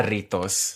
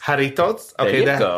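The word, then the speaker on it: Jarritos: not saying that right haritos haritos cuz the J's it's pronounced like a y in Mexico yeah H and so this is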